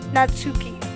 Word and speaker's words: Natsuki: say this right now I'm pronouncing her name say Yuri and her name natsuki so if you guys